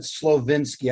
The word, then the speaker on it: Slowinski: pronouncing your name correctly slowinski i i pronounce it slovinsky i use the vinsky okay good what about